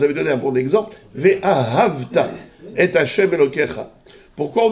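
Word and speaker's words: וְאָהַבְתָּ: Pourquoi on ne dit pas Ve'ahaveta? Pourquoi on dit Ve'ahavta? Parce qu'il vient, le Sheva du bête, il vient où? Après un patah. Patah, c'était Noa Ktana. Donc voilà, on ne le prononce pas.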